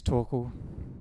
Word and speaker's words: Torkel: But until next time, my name is Torkel. Rhymes with snorkel.